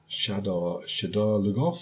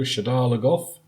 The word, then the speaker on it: Shadar Logoth: Shadar Logoth? I think that's how they're pronouncing it in the show, Shadar Logoth. Not how I pronounce it in my head, but there we go.